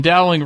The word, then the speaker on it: Dowling: Mike okay, Doling. Here it goes. Here it is. Ah, damn it, Nos. The Dow in dowling rhymes with cow.